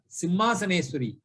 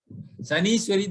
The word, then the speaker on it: Simhasaneswari: But people, without knowing how to pronounce, they say, Srimata Sri Maharajni Srimas Simhasaneswari. Saniswari, they say. Then where will it go? The address will go to the wife of Sanishwara, perhaps.